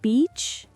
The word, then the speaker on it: beach: Beach has a long E sound. Bitch has a short I sound. Small difference, big meaning change. Beach, bitch.